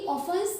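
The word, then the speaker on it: often: ऑफ tells me ही ऑफें tells me ऑफें का मतलब क्या होता है इसमें टी साइलेंट होता है इसलिए इसे पढ़ते हैं ऑफ राइट तो ही ऑफ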